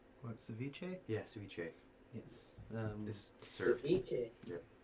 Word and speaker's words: ceviche: say this CI v c h e what Ceviche yeah ciche yes um serich y it's usually